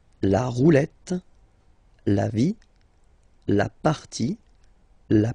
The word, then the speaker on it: partie: And then when they're ending with IE, like here, okay? So basically you don't pronounce the E, okay? So it will be only the sound I, okay?